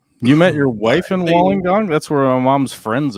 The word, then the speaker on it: Wollongong: she is saying it phonetically but it is pronounced Wollongong Wollongong got it because it's an Aboriginal word so